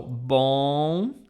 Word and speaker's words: bom: This is the sound, but you have to force your nose to pronounce this. Let me let me, how would I spell this in English? So, bom would be something like this.